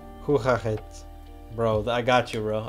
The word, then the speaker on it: Hoe gaat het: How do you pronounce it, though? Hoe gaat het? Hoe gaat het?